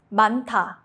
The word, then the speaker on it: 많다: 많다, to be many, a lot. Only 니은 is used.